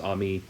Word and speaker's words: Amy: aged 11 uh named ami spelled amy but pronounced ami uh who is originally